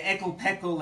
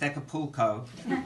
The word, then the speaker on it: Acapulco: Those were the formative years of my teenagerhood when I was spoilt and went on family holidays to Ekelpekel, as the men innocently pronounced Acapulco, but without you.